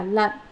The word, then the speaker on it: lận: Chữ đọc là lận, tức là bỉ lận.